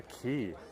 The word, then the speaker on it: Quay: at Westminster Quay or key cuz that is how you actually pronounce it when you see the word qu it's actually old British that should be pronounced as key so we're at the